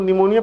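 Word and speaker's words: pneumonia: फ्लोरो निमोनिया देखो निमोनिया इसको निमोनिया पढ़ेंगे लेन प से लिखाता है प साइलेंट रहता है ठीक है लाइक ऑर्गेनिस्ट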